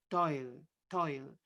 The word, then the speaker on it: fatto il: Toil goes again together, liaison of to and il get put into one syllable. Toil.